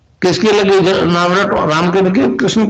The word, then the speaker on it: क्लीं: की मात्रा और बिंदी, उसका उच्चारण होगा क्लींग गा की ध्वनि निकलेगी पीछे। आप अंग बोलो, यहां स्ट्रोक लगता है, अंग बोलो।